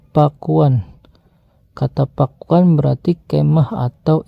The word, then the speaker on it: Pakuan: Ada juga catatan kata Pakuan berasal dari bahasa Kawi, Pakuan, yang kemudian diejak Pakwan. Dalam lidah orang Sunda, kata itu akan diucapkan Pakuan.